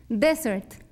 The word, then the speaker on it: desert: ser de ser también tenemos que poner énfasis en que va en la primera sílaba en la acentuación de suert porque si no estamos diciendo otra palabra desert desert muy bien el